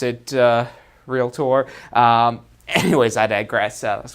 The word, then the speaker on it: Realtor: Association of Realtors and it's pronounced real tour so you'll hear them talk about that all the time they've said that to me so many times even though I do pronounce it real tour anyways I digress so